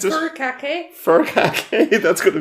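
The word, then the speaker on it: furikake: BAS may we have her how do you pronounce it fur Kake fur Kake that's going to be a fun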